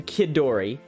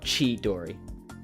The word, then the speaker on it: Chidori: rated you before um i pronounced your name kid dory because i'm italian and in italian the the ch sound is pronounced k like christina my my uh got a relative's name uh who's christina that's yeah yeah anyway yeah so i hope it is pronounced key dory not chi dory it's chi dory gotcha okay i will